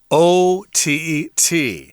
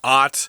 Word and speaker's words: OTT: It's our technology unit for the month of January, and we're talking about something called OTT. This is not a word that is pronounced Ott.